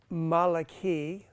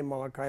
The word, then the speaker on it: Malachi: uh Malachi Malachi okay pronounce Malaki or you can say Malachi but actually it's uh if you look the the vowels it's actually Maliki um but you can say Maliki too it means my messenger